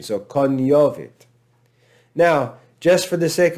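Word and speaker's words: cognovit: but it's pronounced lasagna that italian pronunciation is present in ecclesiastical pronunciation so kanyovit now just for the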